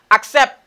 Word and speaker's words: accept: Accept. Je dis accept. Pourquoi ça? Why? Because I have E here after double C. Now I have I here after double C. I pronounce it like X.